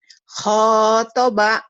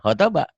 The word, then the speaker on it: khotoba: jalisi, Kemudian khotoba, mana panjang pendek ini mah? Pendek. khotoba gitu. Iya, khotoba. Tadi kau bacanya panjang.